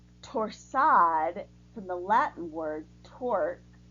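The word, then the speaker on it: torsade: be contrasting in colors this is a French word pronounced torsad from the Latin word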